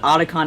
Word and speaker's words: Otacon: They pronounce it Otacon in the games, I think, just to kind of, avoid any problems.